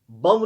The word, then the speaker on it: bomb: BOMB, बम नहीं है ये, BOMB साइलेंट रहता है, बॉम। COMB, कॉम। TOMB, टॉम, इसमें बी साइलेंट रहता है।